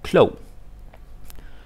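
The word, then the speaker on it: klog: like the go to the standard word for smart is CLO clo clo clo yeah because if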